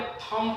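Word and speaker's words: thumb: जैसे यहां पे देखो यानी कि एम के बाद बी है तो यहां पे थंब पढ़ेंगे।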